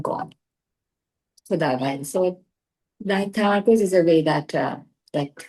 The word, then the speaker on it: Tamarkoz: Tamarkoz ka bhi Tamarkoz is the pronunciation.